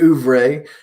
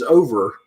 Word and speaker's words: oeuvre: I've been apparently pronouncing that word wrong forever. I said to my wife up the other day about something. I said his over She's like, it's French. Think about an egg in France.